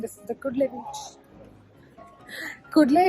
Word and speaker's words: Kudle: Kudle, if you don't know how to pronounce it, it sounds like cuddle.